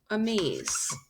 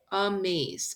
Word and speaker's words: amaze: Is it a maze? It is not. It's a maze. I hear this schwa sound, So I mark it by putting an upside down E, open syllable, exception.